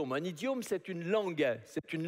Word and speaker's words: idiome: un idiome, il faut bien prononcer comme il faut hein, faut pas faut faire faut pas quelque on va pas traiter quelqu'un espèce d'idium hein. C'est pas ça que j'ai dit hein.